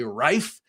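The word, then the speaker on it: Reeve: Now, my my instinct is to say rife because I studied German and the it's always the second vowel that's pronounced, but I'm going to say reef because that's how I've heard everyone else say it.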